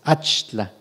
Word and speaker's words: Axtla: En San Luis Potosí hay una ciudad que se llama Axtla, de terrazas, es Achtla, lugar de pipianes. El ajonjolí no es nuestro, sin embargo se integra, solo se pronuncia distinto, como ajoli, un poco equiparado al achli, que tiene las mismas propiedades.